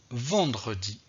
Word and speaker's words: vendredi: dire le mot correctement un autre exemple j'ai ici le mot vendredi vendredi qui est vraiment similaires à mercredi donc j'ai ici le eux que je doit prononcer un donc que je doit prononcer donc pourquoi je dois prononcé donc le eux parce que ce eux est situé entre donc quatre consonnes aussi un qui sont ici ndr aider quand vous voyez ça